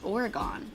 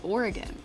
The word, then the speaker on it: Oregon: Everybody on the East Coast says it's Oregon. It's not, it's Oregon.